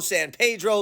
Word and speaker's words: San Pedro: Rancho Los FIS so in conclusion I know my pronunciation is terrible and I know you have a certain way of pronouncing San Pedro San Pedro Los felis Los Feliz and we haven't even begun to talk about Los aneles or Los angales as they used to call